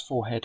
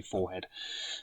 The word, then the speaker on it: forehead: Um, if you pronounce forehead, forehead, um, then that's what you do. I have no problem with that, but I say forehead.